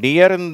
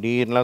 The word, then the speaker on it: deer: அதை நம்ம எப்படி உச்சரிக்கிறோம்? டியர்ன்னு தான் உச்சரிக்கிறோம். இந்த உச்சரிப்பில் உச்சரிப்பதில்லை. ஈ அப்படின்னு டீர்லாம் சொல்லக்கூடாது, டியர்னு சொல்லணும்.